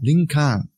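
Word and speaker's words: リンカーン: it link because uh that's how Japanese folks say uh President Lincoln they they pronounced the name uh linkan it's just it must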